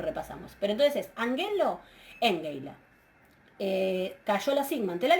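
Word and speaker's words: ἤγγειλα: Engeila, ¿sí? Engeila, ¿sí? Acuérdense por las dudas que estoy pronunciando ese engeila con eso, o angelo. Fíjense que estoy pronunciando la gama antevelar, que se pronuncia como una nu, ¿sí?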